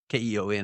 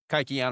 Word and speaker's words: Kykeon: and the Greek is Mm-hmm. Kukeon. Of course, in the Greek, with the Greek alphabet, it's not the English alphabet, so it's like, I think Right, you can say it right. either way, Kykeon or Uh-huh. Kukion.